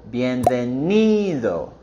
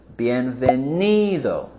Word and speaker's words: bienvenido: For the pronunciation, we want to go higher on the syllable bienvenido, bienvenido, bienvenido.